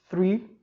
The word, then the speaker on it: three: mas ciência pronuncia fruir o th ele tem um som diferente no inglês o som é ponta dos dentes você vai colocar a